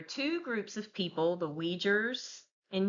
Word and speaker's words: Uyghurs: All right, y'all bear with me on the pronunciation of this stuff, okay? This is the Uyghurs of Xinjiang.